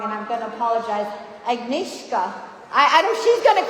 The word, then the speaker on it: Agnieszka: So it's Agnieszka. Agnieszka.